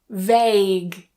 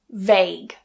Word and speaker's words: vague: Guess guess vague vague. So even with that gue combination towards the end of the word, it is still a silent u. Vague.